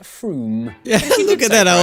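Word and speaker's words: Frome: i don't know we'll see wrong it's not from f-r-o-m-e it should be blitheringly obvious it's pronounced froome yeah look at that i was right don't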